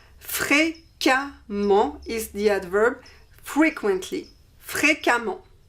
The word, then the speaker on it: fréquemment: the masculine form and we replace the ent by ement, and we pronounce this amant, amant. So we have fréquemment. Fréquemment is the adverb frequently, fréquemment.